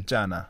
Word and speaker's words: 없잖아: So I think it was kind of pronounced as something else. So please work on that. 없잖아 is the correct pronunciation. 없잖아.